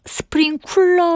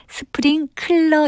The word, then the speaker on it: 스프링클러: 잠 대박 같은 곳에서 물 뿌리는 기대를 가리켜서 스프링쿨러 오라고 할 때가 많은데요 이것의 정확한 영어 단어는 스프링클러 입니다 액체나 붕 말 따위를